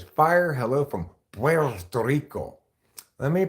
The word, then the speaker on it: Puerto Rico: a territory PTO Rico Puerto Rico that's how you pronounce Puerto Rico like that okay it's the land